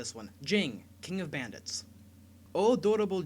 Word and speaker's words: Jing: rang themed alcoholic references Jing in Japanese is pronounced Jin like the drink the chapters are referred